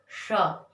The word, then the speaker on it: श: हैं इसको क्योंकि इसको हम तब तक नहीं बोल सकते जब तक हमारे मुंह से गर्म हवा नहीं निकलेगी और हमारी जीभ तालू में टच नहीं होगी, तब तक हम इस श का सही प्रोनाउंसिएशन या फिर इसका सही उच्चारण नहीं कर सकते। इसको बोल के देखिए, श। अगर मैं ऐसे कह दूं स अपनी जीभ को दांत में टच करके, तो इस वाले सा की आवाज आएगी।